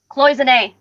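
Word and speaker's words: cloisonné: So this is and help me pronounce this, Cloisonne. Cloisonne.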